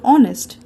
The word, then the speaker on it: honest: we use and before honest even though it begins with a h this is because the h of honest is silent and we pronounce the word with the vowel sound or we never say